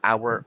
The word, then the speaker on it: hour: hour or an hour it's right to say it's a right to say an hour now why why because the letter H in the word hour is silence did you fail to